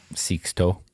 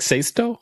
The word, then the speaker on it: Sixto: And how do you say that in Spanish? Sixto. It was Sixto. It's not like Sexto?